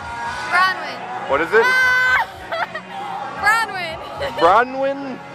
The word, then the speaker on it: Bronwin: what's your name Bron what is it br bronwin how do you spell that b r o n w i n